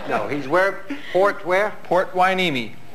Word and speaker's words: Port Hueneme: Port Hueneme. Spell that.